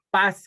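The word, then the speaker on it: פז: oro fino la palabra es Paz como como paz de en español pero es Paz Paz así se pronuncia que quiere decir este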